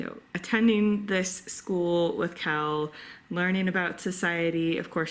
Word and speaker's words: Quell: narrator actually pronounces it Kel and it's pronounced Kel, short for Raquel, which you don't actually find out until later on in the book that her full name is Raquel. Anyway, but it's Kel.